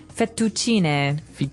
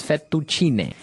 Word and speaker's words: fettuccine: Fettuccine. Oh, it's fettuccine. Fettuccine. In American, we say fettuccine.